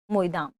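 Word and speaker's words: Moidam: मोईदाम हमने देखा मैदाम, इसका असमिया भाषा में इसका जो रियल प्रोनाउंसिएशन है वही है मोईदाम।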